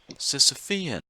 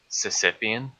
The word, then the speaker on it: Sisyphean: the why is silence I pronounced it wrong Sofia Sisyphean pronounced a Sisyphean Sisyphean gotcha it's time to hold